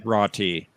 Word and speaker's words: Jurati: Which is It's pronounced the same. Jurati with a J.